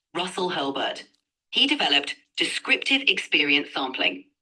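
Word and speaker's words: Russell Hurlburt: It was developed by psychology professor Russell Herbert, right? It's Russell. I don't know how to pronounce his name correctly. It's pronounced Russell Hurlbert.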